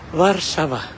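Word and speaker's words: Warszawa: So welcome to Warshava.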